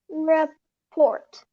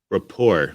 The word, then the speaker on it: rapport: what is this trust develop trust and report rapport is how you say it oh the t is still yeah report what is